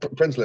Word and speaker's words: Prinsloo: a one-on-one with uh I believe it's Steve prinslow bear with me how do you say your last name uh principle yeah principally outstanding an egg yeah can I